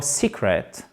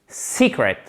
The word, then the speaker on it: secret: Accent tonique sur la première syllabe, secret, ok? Secret, c'est comme exactement second, secret, sauf que là c'est un i long et là c'est comme un e accent grave.